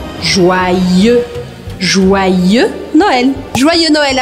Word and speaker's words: Joyeux: Essa palavra se escreve com Y. E o Y eu considero como se fossem dois Is. Então o primeiro I vai fazer o som wa, joa. E o segundo I eu vou pronunciar.